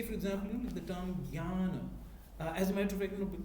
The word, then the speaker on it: jnana: This is purely nasal sound, actually. Yeah. So if you ask a Malayali person, you'll get to know. Yeah. So it's a very nasal, Jnana, something like that.